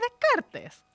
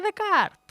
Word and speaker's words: Descartes: sabe o Descartes bueno de Kart no se dice Descartes se dice de Card Entonces ustedes habían oído